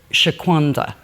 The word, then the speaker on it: Shaquanda: So the name of your product is Shaquanda, right? Yes. Did I pronounce that correctly? That is correct, yes. So who is Shaquanda? So Shaquanda is a character of mine that I developed